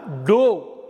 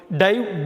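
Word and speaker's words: dove: டிஓவிஇ அப்படின்னா டோ அப்படின்னு ஒரு அர்த்தம் இருக்குது. டோ அப்படின்னு உச்சரிக்கணும், ஒரு உச்சரிப்பு டோ. டைவ், டோ, டிவன்.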